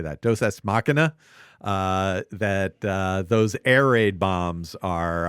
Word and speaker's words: deus ex machina: But then it being so instrumental in the kind of Deus Machina, or how do you say that? Deus Ex Machina.